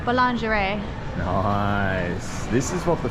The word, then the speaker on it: boulangerie: Boulangerie. Say it in a French accent. Boulangerie.